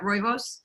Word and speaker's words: rooibos: We got more questions coming in, but Linda says, have you seen a successful kombucha with just rooibos? How do you say that? Rooibos?